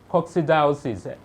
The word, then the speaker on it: coccidiosis: Another rabbit disease is cool down, let me pronounce it, then you call it coccidiosis. Say that gradually.